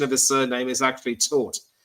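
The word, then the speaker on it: Tóth: And I've also learned that the pronunciation of his surname is actually Tort, as in Bournemouth taught Liverpool a footballing lesson. So it's Alex Tort.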